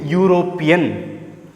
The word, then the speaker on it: European: When you pronounce it European, your lips movements which comes together as well as the pronunciation differs. U, Y, O, U. So, a European is not an European. A European A unit, A union.